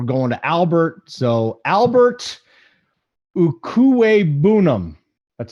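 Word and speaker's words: Okwuegbunam: arnold now we're going to albert so albert ukue boonum that's how you say it so just call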